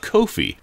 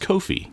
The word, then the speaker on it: Kofi: coffee I'm talking about Kofi which might sound like coffee but it's actually pronounced Kofi get it got it